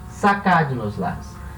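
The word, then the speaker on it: sacádnoslas: E detalhe, agora sacad nos las, a sílaba tônica é o cad, e é a terceira de trás para frente, é uma palavra proparoxítona, ela vai levar acento.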